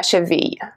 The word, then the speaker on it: cheville: Cheville, we don't pronounce the E at the end. It becomes a little bit more silent, okay?